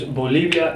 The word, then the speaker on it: Bolivia: We'll use Bolivia and Bolivia because it contains both letters and they both sound the same.